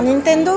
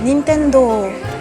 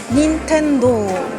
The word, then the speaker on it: Nintendo: Vital de chez Vital on a tance à dire Nintendo mais en fait c'est Nintendo ce mot en kanji il a le kanji nin qui veut dire responsabilité et Tendo qui veut dire paradis donc responsabilité paradis Nintendo parfois on le voit écrit en katakana donc c'est bien allongé sur la fin Nintendo et non pas juste Nintendo Nintendo c'est marrant on